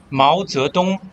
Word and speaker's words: Mao Zedong: Mao Zedong is how we pronounce in Chinese with intonations.